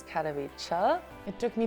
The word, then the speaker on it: Katowice: because when I was in Poland, I said Katowice, and the Polish person said it's Katowice. It took me 3 years to pronounce the name of the city right, but I think now it's all right. Katowice or something like that.